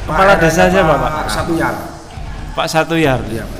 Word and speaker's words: Satoejar: Pak Satuyar. Iya, Pak Satuyar. Satuyar. Iya, ejaan lama, Pak. Iya, J dibaca Y.